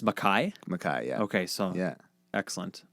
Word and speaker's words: MacKay: So and your last name is pronounced MacKay. MacKay, yeah.